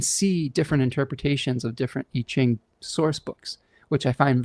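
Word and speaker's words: Yijing: It's called I-Ching. And I don't know, I've been using it for over a decade. It's spelled Y-I-J-I-N-G.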